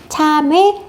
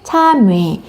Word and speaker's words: 참외: 두 개가 다 맞는 발음이래요. 참외, 참외.